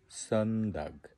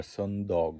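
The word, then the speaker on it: söndag: তারপরে লördag হলো শনিবার, সন্দাগ, eller সন্ডগ, এখানে আসলে দাগ না দগ বলে, দগ মানে হলো ডে।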